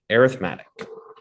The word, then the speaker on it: arithmetic: I know it's an E there, but we pronounce it like an A, arithmetic.